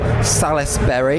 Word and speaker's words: Salisbury: So I'm here with Salisbury. Is that right? Is that right? Yeah, I get many pronunciations.